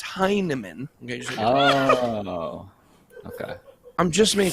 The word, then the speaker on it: Hinman: know william heinemann this is the guy not hyman it's heinemann okay okay i'm just making sure you all